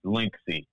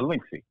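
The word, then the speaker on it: Linkce: link so now our linksy and that's l-i-n-k-c-e why is it spelled c-e though when if i was looking at the word l-i-n-k-c-e i don't think i would say linksy because you can't say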